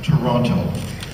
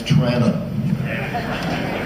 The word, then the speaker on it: Toronto: the word for the city, Toronto, is not pronounced Toronto. It's Toronto. Toronto.